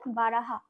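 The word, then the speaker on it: बारह: আমরা হিন্দিতে বলবো বয় আকার র আর হ, তাহলে উচ্চারণ হবে বারাহা, বা রাহা।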